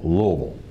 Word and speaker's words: Louisville: showed the video from that would be louisville not louisville forget the s okay it's louisville i hey i used to hang out in louisville from time to time